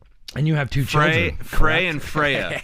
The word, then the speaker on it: Frey: I think it would be a fair pronunciation to say Frey. Yeah. It's just from this part of the country they say Fry.